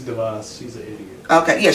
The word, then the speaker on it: DeVos: I homeschooled my son for a period, and we were talking about is it Betsy DeVoe or Betsy DeVos? That's Betsy DeVos.